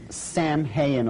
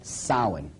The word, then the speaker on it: Samhain: Now, when you look at the name, it looks as if it's saying Samhain or something like that. No, no, no, no. This is properly pronounced in the ancient Gaelic as Samhain. Samhain, according to occult tradition, was the Lord of the Dead.